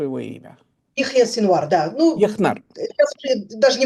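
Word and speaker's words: Яхья Синвар: резню 7 октября 2023 года на юге Израиля, Яху Синвара. Правильно я произношу его имя? Ихья Синвар, да.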